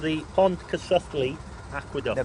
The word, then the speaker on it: Pontcysyllte: Now then, this bridge, this aqueduct, has a strange name that I can't pronounce, so I'm going to let you do it. Yeah, it's called the Pontcysyllte Aqueduct. The Pontcysyllte Aqueduct.